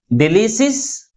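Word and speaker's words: delicious: But which syllable is pronounced with a greater force? Second syllable is pronounced with a greater force comparing with other syllables. And also this word ends with IOUS.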